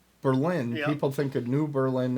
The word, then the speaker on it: Berlin: they first come to berlin and that's the german pronunciation what if we're not german just say it right okay well if i say berlin people think of new